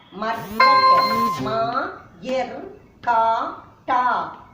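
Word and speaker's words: मर्कट: Next one, ma. This is ma. This is ir, the semi-consonants of ra. Ma, ir. This is ka. Ta. Ma, ir, ka, ta. Markat. Ma, ir, ka, ta. Markat.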